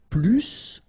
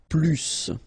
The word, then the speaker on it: plus: I will be um there is a strange thing in French language with this Plus okay because in some cases you will have to pronounce the final s and in other cases you won't so what I would